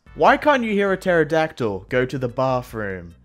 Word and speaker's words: pterodactyl: can't you hear a pterodactyl go to the bathroom because the P is silent nah bro because I